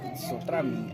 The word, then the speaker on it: Sotrami: ¿Sotrami? Sotrami, ¿no? Sotrami.